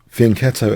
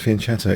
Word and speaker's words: fianchetto: Or fianchettoing both bishops, if you prefer that pronunciation, as I'm sometimes picked up on. But if you look at the Oxford English dictionary, you can pronounce fianchetto as fianchetto if you so prefer, by the way.